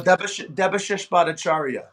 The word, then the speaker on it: Debashish Bhattacharya: Oh, Debashish Bhattacharya.